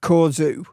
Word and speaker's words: Corgeut: even though apparently it's supposed to be pronounced with a Chinese zing of Corzu. But I'm sticking with Cojo, as in Peugeot, because frankly, that just sounds right to me.